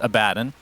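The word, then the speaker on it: Abaddon: pronunciation first of all I understand that the correct pronunciation is a badden okay but that didn't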